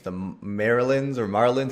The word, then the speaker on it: Marleyans: The Marylands or Marlins. How do you pronounce them? Yeah, so they say in the dub Marlians.